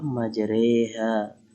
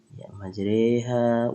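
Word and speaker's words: مجراها: kembali kita Oh iya condong atau miring share istilah menjodohkan bacaan harokat fathah pada harokat kasroh sekitar dua pertiganya ia kita kasih bacanya wafah majreha majreha wa mursaha mencontohnya ya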